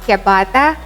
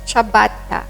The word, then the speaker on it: ciabatta: shaped mode it's not kyabata or sabata it's chabatta with an emphasis on the double consonant t we hope you will